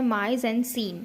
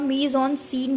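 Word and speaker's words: mise en scène: इसी के अंदर हमारे दो छोटे छोटे पॉइंट आते हैं, माइज एंड सीन, और इसको हम मीज ऑन सीन भी कहते हैं, ठीक है।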